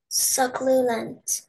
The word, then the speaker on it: succulent: Say just the sounds in that middle syllable. What sound will this letter, the first letter, make? Good. And your next letter, what sound will it make? Ooh. It'll actually say you.